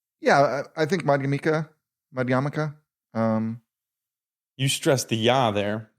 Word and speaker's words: Madhyamaka: Pali words, is that the stress is always on the second to last syllable.